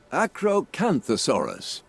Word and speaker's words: Acrocanthosaurus: tell you right now as paleontologist let's listen acrocanthosaurus okay that is accurate let's see what we